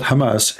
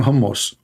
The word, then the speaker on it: Hamas: the hamus hamus terrorist Trump he do not know how to say the word Hamas he called him hamos he just called Hamas